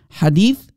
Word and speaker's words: hadith: five more cell ahadith hadith singular hadith multiple hadiths that's how you say it in arabic ahadith multiple singular hadith a hadith so there are around